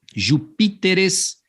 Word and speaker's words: Jupíteres: Alguns plurais que mudam aí a sílaba tônica para não gerar a tal da bissesdrúxula. Tá vendo aqui, ó? Júpiter, Lúcifer. O plural desses camaradas aqui, ó, assim como espécimen. Então vai ficar especímenes, Jupíteres, e lucíferes, para que mantenha a ideia de proparoxítona.